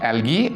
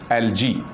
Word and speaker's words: algae: Alga, algae, we can pronounce it algae and we can also pronounce it algae.